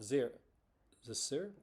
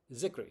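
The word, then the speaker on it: Zicree: Mark Scott Zisser? I'm going to get this name wrong. Mark Scott Zickery. There we go.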